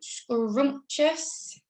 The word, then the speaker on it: scrumptious: hidden yes number two scrumptious it's got that silent t and then an eye sound now that one is tricky because you can't really hear the eye unless i say scrumptious that's not quite right